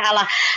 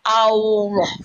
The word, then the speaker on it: Allah: Allah. Ada wow-nya. Ada wow. Allah bacanya.